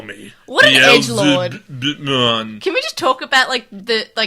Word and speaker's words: Beelzebumon: But how do they pronounce it? Beelzemon. Beelzebumon. Yeah, with the B. Beelzebumon. Beelzebumon. Yeah, Beelzebumon, because it's Beelzebub.